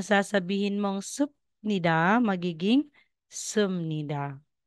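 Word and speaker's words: 습니다: so Instead na sasabihin mang sup Nida magiging sumnida y so ne Al So ibig sabihin Yes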